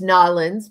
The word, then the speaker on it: New Orleans: I live in New Orleans, pronounced Nawlins by some people.